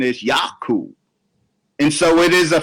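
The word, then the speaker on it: יעקב: them spoke English in modern Hebrew it is yaakov but they didn't speak modernist readily Hebrew as well the biblical named the Semitic name the proper pronunciation is yaku and so it is a fact that yaku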